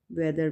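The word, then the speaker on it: weather: वेदर, वैसे तो एच की साउंड हा होती है ना, ह, ठीक है। तो यहाँ पे हम इसको साइलेंट करेंगे और प्रोनाउंस करेंगे वेदर, ठीक है, वेदर।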